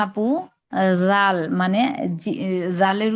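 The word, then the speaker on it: ذال: জাল না আপু জাল মানে জালের উচ্চারণটা নরম হবে। এই যে জিহ্বার আগা সামনের উপরের দুই দাঁতের আগার সঙ্গে লাগাবো।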